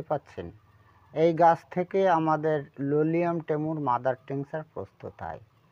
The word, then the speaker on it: Lolium: এবার এই ঔষধটির নাম হচ্ছে লোলিয়াম, ঠিক আছে, টেমিউ লেন্টাম। উচ্চারণটা কী হবে বাংলাটা লিখে দিই, লোলি আম, ঠিক আছে, লোলিয়ামই বলা হয়, সঙ্গে টেমুটাও বলতে পারে।